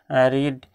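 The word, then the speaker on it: read: তৃতীয়ত ভার্বের ফর্মগুলো জানতে হবে, প্রেজেন্ট পাস্ট পাস্ট পার্টিসিপল, প্রেজেন্টে যদি ইট ইট, এট ইটেন, রিড রেড রেড, এটা স্পেলিং আছে কিন্তু উচ্চারণটা রেড হবে পাস্ট এবং পাস্ট পার্টিসিপলে, রাইট রোট রিটেন, প্লে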